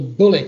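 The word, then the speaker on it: Bullitt: It was called the Bullet Center. Horrible name, but that's what I suppose I was going to say. That's synonymous with American culture, but it's spelled B-U-L-L-I-T-T. It's like the film.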